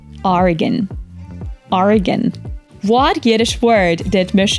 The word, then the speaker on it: Oregon: pronunciation of this State exactly It's oron Oregon whatish Word did mich bmanpronounce meaning a unique Blend of courage and